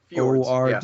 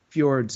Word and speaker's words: Fjords: Is that how you pronounce F-J-O-R-D? Fjords, yeah. Fjords, yeah.